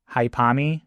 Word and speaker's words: Haipami: 8 could be pronounced Ha, 1, E. 8 could also be pronounced Pa, and then 3, Mi. So you put that all together, you get Haipami, which is a nickname for Hyper Misao, Haipami Misao.